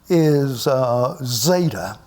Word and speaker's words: zeta: And it is pronounced like the Z in zero.